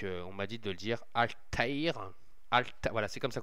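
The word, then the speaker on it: Altaïr: marqué alta donc on m'a dit de dire alTaire al voilà c'est comme ça qu'on me dit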